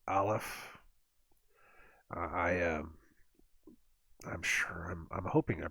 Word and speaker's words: Aleph: He said it was a guttural. It starts in the back of the throat. Aleph.